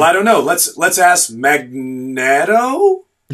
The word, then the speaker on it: Magneto: Let's ask Magneto? Right. But now there are, mainstream pronunciation guides everywhere. It's Magneto, which is weird. You don't pick up things with a magnet.